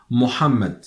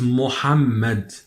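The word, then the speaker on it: Muhammad: the word the very familiar name in Arabic Mohammed Mohammed so as you know in in the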